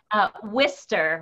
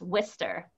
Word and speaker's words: Worcester: Well, I'll give you two pronunciations if you don't mind. Yeah. Rabbi Karen Thomashow is from Worcester, Massachusetts. Worcester.